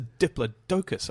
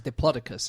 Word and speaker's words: Diplodocus: Well, I think it's a Diplodocus, isn't it? well, I say Diplodocus. Do you? But I say Diplodocus. a lot of people say Diplodocus, and that's the American pronunciation.